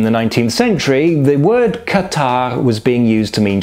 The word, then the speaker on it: Katarrh: Apparently, in the 19th century, the word catarrh was being used to mean just generally feeling unwell. And at the time, in the dialect of Saxony, it was being pronounced something more like Kater.